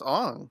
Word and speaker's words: Aang: It's Ong.